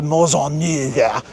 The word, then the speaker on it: Maisonneuve: Montreal was first settled by Europeans in 1642 when French settler Paul Le Chamond de Maisonneuve, and that's actually how you pronounce his name.